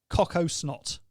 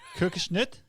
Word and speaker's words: Kokosnut: Coco snot. It's not in our range. That's not how you pronounce it. Kokosnut.